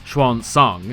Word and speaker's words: Xuanzang: video by the way we're pronouncing her name is chuan song for the rest of this video get used to it